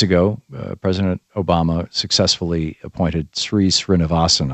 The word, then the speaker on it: Sri Srinivasan: And a few months ago, President Obama successfully appointed Sri Srinivasan, I believe is how his name is pronounced, to that court.